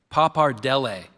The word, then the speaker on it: pappardelle: Excuse me, I said the last, let me say it again. Pappardelle. Pappardelle.